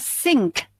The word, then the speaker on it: sink: Ya, kalau yang ini kan bacanya sing, kalau yang ini bacanya sink, harus ada kehnya, sink.